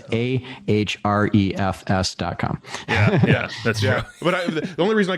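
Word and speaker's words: Ahrefs: yeah your name and people like is it H refs Nakamura no it's a href Escom the only reason I called H rest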